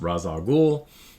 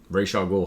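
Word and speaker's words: Ra's al Ghul: Uh who's one of my favorite artists and um this is the first Razal Ghoul um or Ray Ghoul, however you want to pronounce it.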